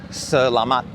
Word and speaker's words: Salamat: Yeah, say it faster, "Slamat". You almost don't even say the E. "Salamat". It's just there a little bit. If I don't say it all, it's "Slamat". But it's "Salamat". It's like pretty close. But "Salamat" is the correct way, and that T you don't go on the end of it. You just go "Slamat". Like that.